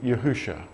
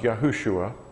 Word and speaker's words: Yahusha: the horus in hebrew it's actually yahusha it means yah is our deliverer and it could also be pronounced yahushua or simply yeshua that's a shorter form